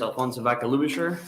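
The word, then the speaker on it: Alfonso Vaca Ludischer: our next testifier is from voices for children alfonso baca lubasher that close all right hi good afternoon my name is alfonso vaca lusher i'm to try to attempt to spell it um a-l-f-o-n-s-o and then lubisher vs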